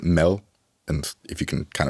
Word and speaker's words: mad: big food Symposium called mad which sounds like crazy but um in Danish you would pronounce it Mel and if you can